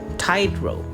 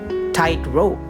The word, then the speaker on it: tightrope: Again, remember, this primary stress is on the first syllable, tightrope. What about if we are going to put the primary stress on the second syllable? Then it will become tightrope, meaning a rope drawn taut.